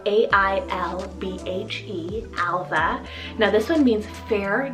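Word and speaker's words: Ailbhe: side we have the name alva spelled a-i-l-b-h-e alva now this one means fair noble and bright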